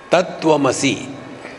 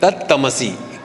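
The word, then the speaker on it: तत्त्वमसि: मसी यह महावाक्य है अब बंगालियों में कंज कंसोनेंट नहीं कहने आता उनको तो तत्व मसी इस शब्द का उच्चारण कहते तत मसी तमस माने तामसिक तत मसी तुम तामसी हो तुम परमात्मा नहीं हो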